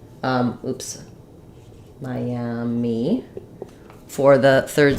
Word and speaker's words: Miami: the city Miami um so here we have uh three syllables first syllable is stressed we have the I dip thong like the word my I'll write it that way or you can think of it like my like in might um and then we have the a black cat vowel for the letter a and then we have the e sound um oops Miami for